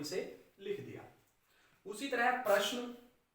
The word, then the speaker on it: प्रश्न: ज्यादातर हम उच्चारण करते हैं पर्सन कि आज सर, आज अध्यापक ने मुझे पर्सन दिए हैं। पर्सन, पर्सन नहीं होता, प्रश्न। क्या होता है बेटा? प्रश्न।